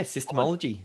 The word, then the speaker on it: SYSTEMology: As you've just heard, David is the author of SYSTEMology. Is that how you pronounce it? Yeah, SYSTEMology.